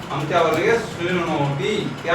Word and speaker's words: शृणोति: शृणोति, क्या है उच्चारण?